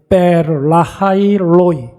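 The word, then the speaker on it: 브엘라해로이: 부엘라 헤로이, 베르라하이 로이 이렇게 발음을 하는데 베르 살아계신 하나님, 뭐 라이는 뭐 샘물이고 로이 감찰하시는 하나님, 지켜보시는 하나님 앞에서 뭐 했다고요?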